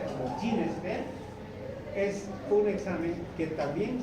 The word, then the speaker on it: GeneXpert: Por tanto, ese examen que se conoce como KEN-EXPERT, que se pronuncia como GeneXpert, es un examen que también sirve para detectar tuberculosis.